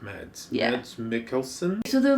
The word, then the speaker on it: Mads: and there's rumors that is it math is that how you say it matt's michael james mickelson i don't know it's is what no it's uh danish danish yes yeah so mad so let's call it meds yeah that's mickelson so